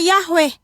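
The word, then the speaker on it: Yahweh: Y ini kitab amsal teman-teman dan ini kitab Mazmur ini ada namanya huruf palo Ibrani yod yod yod he wau he yang dibaca atau pelafalannya Yahwe ya jadi ada teman-teman jangan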